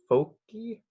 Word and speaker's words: foci: usually say foci but its f o see I so it's the folky of the ellipse it's the plural of focus so I kind of say it like focus but I complete completely wrong but one thing about these